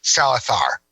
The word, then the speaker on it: Salazar: that Javier Bardem plays Salazar in that move or as he pronounces in proper Spanish Salazar whatever um I'm not